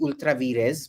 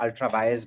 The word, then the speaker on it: ultra vires: virus to the Constitution it's technically ultraz but we'll call it Ultra V because that's what people understand in Latin it would be pronounced ultraz but the moment I